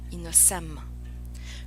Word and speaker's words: innocemment: Par exemple, à l'article innocemment, l'icône des lèvres indique que la troisième syllabe se prononce sa, innocemment.